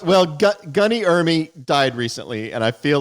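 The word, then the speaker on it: Ermey: It's not Army, it's Ermy.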